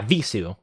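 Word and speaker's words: Vheissu: Yeah, Visu.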